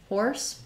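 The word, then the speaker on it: hoarse: your H horse and then SE says the S sound here so this is the same as this word horse my voice is horse and I wrote a horse um the important thing is making sure you have the strong American R there or so I would do or horse um maybe rewrite that as has two s's um versus the Z um SE can say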